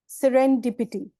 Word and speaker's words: serendipity: The word is serendipity. Serendipity. Repeat after me. Serendipity. Okay, दो parts में इसका pronunciation देखते हैं. SEREN. Okay, then DIPITY. So seren को बोले जैसे 7 बोलते हैं, number 7.